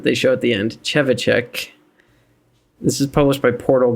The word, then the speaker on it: Trzewiczek: So I'm pretty sure I'm remembering the correct pronunciation that they show at the end. Trzewiczek.